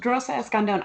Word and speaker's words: Rosa Escandón: Pronounce it the correct way for everybody who's listening. It's Rosa Escandón.